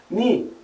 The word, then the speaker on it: knee: Por exemplo, a gente tem palavras terminadas em K e N no inglês, onde a gente não pronuncia o som do K. Know, saber, knife, faca, knee, joelho, doorknob, maçaneta.